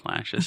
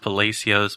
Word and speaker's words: Palacios: county called palacios texas okay shout out to plashes it's a it's actually it's supposed to be pronounced palacios but no it's one of those things where everyone who's from there just calls it palacios so that's what it's called now it's on